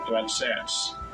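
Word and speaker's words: רצץ: This is how you say it in the Hebrew. Strong's H 7533. Ratsats. Ratsats. That's how you say struggled.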